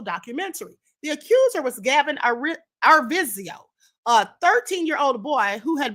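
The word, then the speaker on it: Arvizo: The accuser was Gavin Arvisio, a 13-year-old boy who had been battling cancer. Gavin Arviso, that's the pronunciation.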